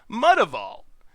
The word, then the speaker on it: Mutavault: it's all creature types, so it's like a mixed breed, a mutt, Mutavault. So I still think that is how it should be pronounced.